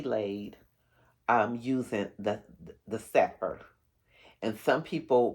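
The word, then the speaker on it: Sepher: So, the foundation is going to be laid um using the the Sefor. And some people pronounce it Sefer.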